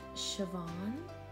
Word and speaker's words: Siobhan: been told it's Irish the name and it's pronounced Siobhan so she blonde cross I was having a